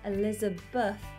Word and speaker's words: Elizabeth: say it Beth but as a whole name Elizabeth is how we pronounce it Beth Elizabeth Leila Polly Lily with